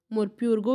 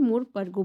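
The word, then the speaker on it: Morpurgo: इनका प्रोनाउंसिएशन आप कुछ भी कर सकते हैं। मोर प्यूरगो भी बोल सकते हैं या फिर मोर परगो बोल सकते हैं।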